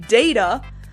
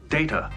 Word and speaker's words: Data: Except she's not very good in that episode because she's straight up bullying Data. My name. It is pronounced Data. You called me Data.